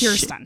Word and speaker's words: Kirsten: Is it Kristen or Kirsten? It's Kier like an ear, even though. Kirsten. Yeah, it's Kirsten. Phonetically, it's Kirsten, but I'm a picky bitch.